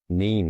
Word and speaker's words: Kneen: N mean? What does mean? Well, firstly, I just say it's a horrible name to have. Is it mean? N mean? Yeah. Silent K.